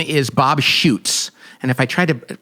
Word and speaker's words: Schuchts: his name is Bob Schuchts. And if I try to spell it, it's like Shouts or Z, but it's called Be Healed.